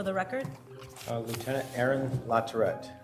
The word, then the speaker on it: Latourette: up here too please state your name and spell it for the record uh Lieutenant Aaron larette spelled a a r o n larette l